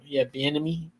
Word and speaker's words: Bieniemy: The Commanders are just, again, a fighting team that, I do got to give Eric Bieniemy. So I think I said his name wrong. No, it says Bieniemy. Bieniemy.